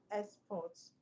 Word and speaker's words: export: exports, commutes, doing work, imports, doing work, intent doing work. So export is a noun. So the stress um is on the first level.